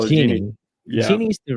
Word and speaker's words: Genie: Genie Genie Genie yes we call it Genie Genie is the right way to say it and